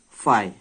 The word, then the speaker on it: phi: It is pronounced as phi.